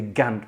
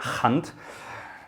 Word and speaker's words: Gant: this is a um you might say gant but it's actually a hunt careful there that's how